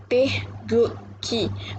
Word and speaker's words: Taegukgi: It's pronounced as Taegukgi, which means the supreme ultimate flag.